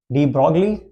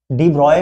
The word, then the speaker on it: de Broglie: का नाम था Louis डी ब्रॉगली, डी ब्रॉय भी कहते हैं इसको ना, इसकी प्रोनाउंसिएशन अलग अलग होती है, डी ब्रॉगली या डी ब्रॉय।